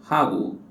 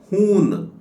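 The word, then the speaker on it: हूँ: ಈ ರೀತಿ ಹೇಳುತ್ತೇವೆ ಹೂ ಇಲ್ಲಿಯೂ ಕೂಡ ಎನ್ ಅಕ್ಷರ ಉಂಟಲ್ಲ ಇದನ್ನು ಮೂಗಿನ ಸಹಾಯದಿಂದ ಉಚ್ಚಾರ ಮಾಡಬೇಕು ನೀವುಇದನ್ನು ಹೂನ್ ಅಂತ ಓದಬಾರದು ಹೂ ಅಂತ ಓದಬೇಕು ಅಥವಾ ಹೂ ಅಂತ ಉಚ್ಚಾರ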